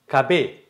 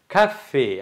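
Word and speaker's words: café: காரணம் என்ன, இதில் எஃப் நான் போடாட்டி நீங்கள் எப்படி வாசிப்பீங்கடா, கபே கபே என்று வந்துடும். ஏதோ சாப்பாட்டு கடை மாதிரி ஏதோ வித்தியாசம் கபேப்பா அப்படி இல்லை. அப்போ இதில் ஒரு எஃப் போட்டிருக்கு, எஃப்ஐ வந்து முழுமையாக உச்சரிக்கக்கூடாது, கஃபே. அப்போ எஃபினுடைய ஒரு சைகோன் பூசும் 50% ஒரு சத்தம் தான் நீங்கள் சொல்ல வேண்டும்.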